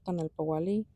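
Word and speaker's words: Tonalpohualli: Today my plan is to finish recording for my Tonalpowalli. You can also fingerspell it Tonalpowalli, P-O-W, not W, H-U-A. So W is the same sound as H-U-A. But it's a variation in spelling.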